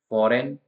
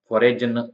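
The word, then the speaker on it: foreign: है तो साइन जिसका मतलब होता है संकेत फॉरेन का मतलब होता है फॉरेन म फॉरेनर का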